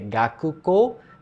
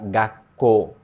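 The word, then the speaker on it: 学校: O Ku vira um Tsuzinho pequeno. Em vez de ser Gakuko, vira Gakko.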